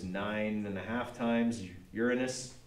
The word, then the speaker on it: Uranus: and a half times Uranus by the way that's how you say it it is not Uranus that's something else okay Uranus is the planet